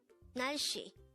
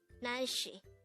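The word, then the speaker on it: 날씨: only here at day angle word number 259 Nashi Nashi Nashi this is pronounced as a two-syllable word the first syllable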